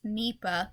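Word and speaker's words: Nipah: definition of the problem Nipa virus pronounced NEPA yes I initially pronounced it wrong too is a rare contagious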